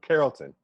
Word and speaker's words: Carrollton: pronounce they pronounce of Carlton like like the Carlton dance okay all right today's